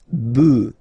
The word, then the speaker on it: bœufs: this S, but then pronunciation changes quite much, because you get des bœufs, alright, un bœuf, des bœufs, alright.